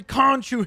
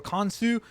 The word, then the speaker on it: Khonshu: Of course I couldn't forget the legendary Khonshu himself, or Khonshu, if you want to pronounce it that way, because I believe that's actually how it is pronounced properly.